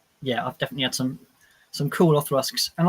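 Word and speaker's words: Auchroisk: How do you pronounce this next whiskey? It's a fun one. Othrusk.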